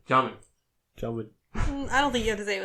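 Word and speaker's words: Djimon: It's spelled Digimon Hansu. And I had to look it up to make sure it wasn't Digimon. And? No, it's Jaemin.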